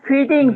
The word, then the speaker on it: fitting: স্যার ফিটিং FITTING স্যার, ফিটিং। Feeding ফিটিং, right.